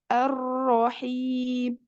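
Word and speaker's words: الرحيم: sampai hilang daripadanya maka walaupun dia Huruf tebal bacanya bukan tidak tetapi arahim jadi tetap keluar rnya takrirnya itu sendiri arahim arahim seperti itu ya Jadi bukan terjeda arahim arahim Jangan sampai hilang sifat takrirnya tetap selalu harus ditampakkan ada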